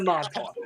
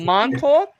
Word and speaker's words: Montauk: That's what you're gonna be going into Montauk, all right?